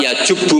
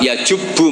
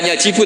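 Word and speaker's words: يجبّ: Nabi ngendikan Al islamu yajubbu maqoblah itu bacanya bukan yajibu tapi apa lah kalau pas ini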